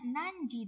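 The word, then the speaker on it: 何時: ada kanji apa ya penggunaannya bisa dibaca nanti bisa dibaca Nani ya kalau di sini bacanya nanji Deska ya artinya jam berapa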